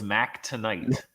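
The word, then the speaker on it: Mac Tonight: that his name was mack tonight rhymes with moon knight well we still have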